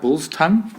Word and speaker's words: biltong: was, he was like, I had to say it like bull's tongue, say it like that, but it's like, that's how you pronounce it, but it's not what it is.